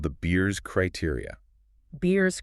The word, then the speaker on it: Beers: Beers Criteria, like the drink.